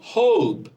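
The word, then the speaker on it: hope: তাহলে এই বর্ণের নাম কি? ও। তাহলে উচ্চারণ কি হবে? হোপ। হোপ।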